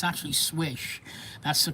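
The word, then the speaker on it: Slysz: A lot of people were pronouncing it Sleaze or Slize or whatever. It's actually Swish.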